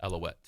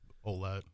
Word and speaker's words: Ouellette: Because my name's Paulette, so I was just guessing yours was Alouette. Yeah, it's just Ouellette.